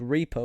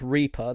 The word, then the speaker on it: Reapr: And to rival the app Reaper, that's spelled REAPR, you have an app called Defender, which is DEFNDR, I think.